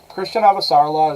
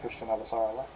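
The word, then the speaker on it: Chrisjen Avasarala: But I'm pretty sure her name is supposed to be pronounced Christian Avasarala. Or if it's not literally Christian, then like it's close.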